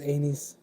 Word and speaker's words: anise: That live should have been titled Anus Oil, yeah. So I'll tell him it's not anus oil, it's anise.